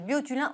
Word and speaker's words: Biotulin: exceptionnel alors c'est le moi je le prononce à la français biotulin ou le Botox light